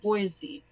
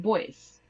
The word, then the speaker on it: Boise: has had this joke my dad likes to mispronounce things and with them a little bit okay so he's actually had this joke about Boise all right and he likes to call it boys because if you okay